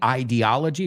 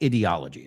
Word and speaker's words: ideology: Ojo con esta palabra, because I've heard very smart people say ideology and ideology. Que sepas, hay dos pronunciaciones que se aceptan. I say ideology from idea, but I've heard many people say ideology. Again, it's up to you there.